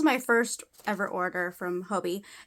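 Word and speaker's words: Hobii: first ever order from Hobie it looks looks kind of like hobby but it's spelled h o b i i um and I think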